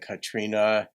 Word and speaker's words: Catriona: Oh gosh, last name is it's spelled Catriona, but I think it's pronounced like Katrina.